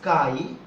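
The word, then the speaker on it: χ: And one more constant, and this constant is called, first of all, pronunciation of this is chi, and this is also known as electric susceptibility.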